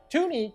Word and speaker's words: Toonie: Tuni came about just because it sort of made sense and it rhymes with Looney.